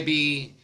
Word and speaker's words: Bi: Some of you may be aware of a Chinese sculptural mirror or jade disc form called a B, which is spelled B-I.